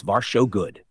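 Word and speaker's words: varsågod: Tac three your welcome is varso good pronounce v show good do you want to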